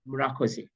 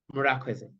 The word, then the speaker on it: Murakoze: In Kinyarwanda, we say Murakoze. This is our native language, Murakoze.